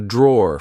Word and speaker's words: drawer: Like I said, be careful because in British English, we don't pronounce the e at the end.